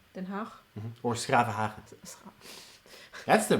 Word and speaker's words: Den Haag: Now, how do you pronounce it? Den Haag. Den Haag.